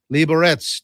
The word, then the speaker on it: Liberec: Why not go from Liberec, as iMac tells me how to pronounce it, Liberec to Prague?"